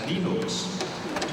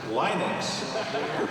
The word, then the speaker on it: Linux: Well, I pronounce Linux as Linux. However, the total answer to that is, if you are Linus Torvalds, you probably pronounce it as Linux.